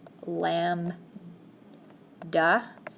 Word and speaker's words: lambda: wavelength has this symbol lambda so I'm gonna put that in quotation marks it's pronounced lamb duh it's just the Greek letter lambda sort of looks like